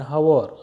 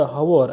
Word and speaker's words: hour: I take an hour actually because H is silent here, right? So the word hour has started with vowel sound.